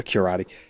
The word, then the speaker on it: Curate: Pronounce it more like karate. A curati.